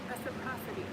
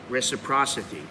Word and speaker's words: reciprocity: how to say this reciprocate reciprocity see here reciprocity reciprocity i didn't know that's how you said it